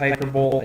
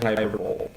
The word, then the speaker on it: hyperbole: be called hyperbole, but I always read it as hyperbole, and you can't stop me from saying hyperbole. Everybody will know what I mean, and will be slightly annoyed at me for saying it wrong, but that doesn't matter, because at the end of the day, it doesn't make sense that you pronounce the E.